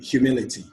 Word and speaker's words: humility: and they have rules words ending with the letter y whether it's i c y i t y or i f y the stress is on the third syllable from the end that means you count one two three okay we have four syllables in humility to identify the stress in a word that ends with the letter y you count the third syllable from the end and you get your stress so t li me